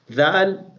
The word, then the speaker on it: ذ: When we are going to pronounce these letters, our tongue has to come out in between the teeth, dhal, tha, and dha.